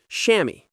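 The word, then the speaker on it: chamois: The real solution is a good pair of padded cycling shorts, often called a shammy, pronounced shammy.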